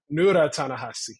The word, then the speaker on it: Ta-Nehisi: Right, and then you pronounced it wrong just now, so that's my revenge. Say it again. Ta-Nehisi.